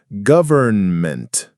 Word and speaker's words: government: The correct pronunciation is government. The first O sounds like the in up, and that N is definitely there, though it can be soft.